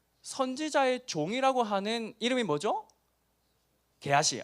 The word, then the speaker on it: 게하시: 게하시. 아니, 발음을 잘 해야 됩니다. 잘못하면 상스러운 발음. 게하시이죠.